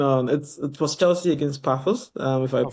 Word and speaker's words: Paphos: It was Chelsea against Paphos, if I Paphos, pronounce yeah, it yeah, properly, Paphos.